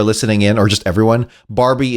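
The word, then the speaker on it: Barby: For the record, for those who are listening in or just everyone, Barbie is spelled B A R B Y like shrimp on the Barbie, which no one in Australia says.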